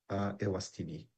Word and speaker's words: Eswatini: Yes, just to correct, I got here that is EPSA Ewastini, the right pronunciation for them.